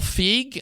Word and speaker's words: Feig: you pronounce it Paul feig I pronunciation key and he had said fig so I'll say it that way tonight looking at his